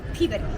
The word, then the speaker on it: Peabody: I think of it, the way to remember to say it, I think puberty. Peabody, right? Yes.